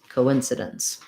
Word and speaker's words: coincidence: n s sound um and then the o is a true o you're not going to see it in the ipa but there's going to be a little glide in there so it's going to sound kind of like co win so dense coincidence um it's quite a